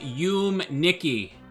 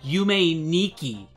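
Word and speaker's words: Yume Nikki: it's like no Christian it's called you Mickey it's not called you main ikki god gave me ten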